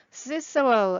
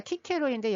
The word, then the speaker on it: Cicero: Cicero, 아니 시스라고 했잖아. 농담입니다. 키케로인데 영어 발음이 Cicero입니다.